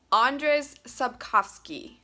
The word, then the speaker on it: Andrzej Sapkowski: by, hold on, somebody told me how to pronounce it once. I'm gonna try really hard to get it right. Andrzej Sapkowski.